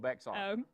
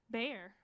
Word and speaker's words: Bexar: arizona top five places bexar texas for you guys from texas how do you say it i'm just gonna go with backside i wasn't an english major sorry bear oh lord wow i